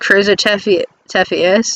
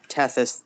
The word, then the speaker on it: Tethys: new friend isn't named chris tefes thank god you hear a bunch of cursing and screaming in like three different levels of ruckus it's actually pronounced tethys but which is all